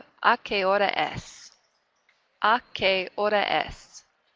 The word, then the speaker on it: hora: Remember again, the H's in Spanish are absolutely silent. We don't say them at all, so leave those out. So I'm just starting really with this letter here. Hora. Horario. If you can roll your R's, that's where you give it one little flip.